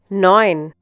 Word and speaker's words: neun: Neun. Once again, neun. In this case, E U is pronounced like O I.